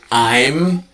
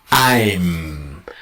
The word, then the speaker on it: I'm: it's really really important for example here I'm you must have a very strong M I'm a lot of students say I.E going I gonna say I'm gonna very strong contact here the second one